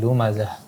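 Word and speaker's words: لمزة: Ada sedikit getaran huruf za, bukan seperti za. Lumazah.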